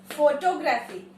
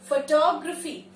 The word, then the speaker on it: photography: Now, it will not be pronounced as photography. It will be pronounced as photography. Photography.